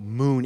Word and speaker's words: Mukn: so that's absolutely right so uh moon is we spell it m-u-k-n it's short for Mutual